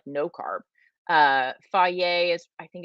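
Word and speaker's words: Fage: is it low carb i eat faye which is spelled f-a-g-e i'll also eat two good sometimes they are low-carb but they are not like no carb uh faye is i think it's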